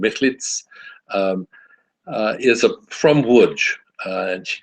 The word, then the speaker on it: Michlic: Joanna Michlic is, the C is pronounced like a Sadi at the end. Michlic is from Łódź, and she grew up in Łódź.